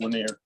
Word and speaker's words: Lanier: Lanier I believe you say Lanier I say Lanier but I wish I said it like the French because then my name would rhyme and I would feel really cool but it is pronounced linear it it should be right